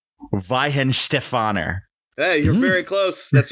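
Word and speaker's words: Weihenstephaner: I hope I pronounced this correctly. All right. Ven Stefaner.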